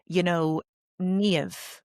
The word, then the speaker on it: Niamh: It's a bit like, Niamh, the girl's name. Niamh. You hear the song, you hear the dip, Niamh.